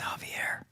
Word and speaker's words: Javier: agencies i'm sure uh mr xavier how you doing sir hello awesome black point good to see you it's javier javier i always butchered them that's not inaccurate